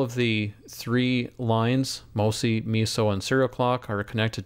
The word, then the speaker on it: MISO: output from the servant often pronounced miso serial clock sck and